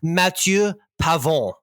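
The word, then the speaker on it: Matthieu Pavon: and and let me let me frankophone it up for the people who are offended by your Americanized pronunciation it's Matthew pavon who is the winner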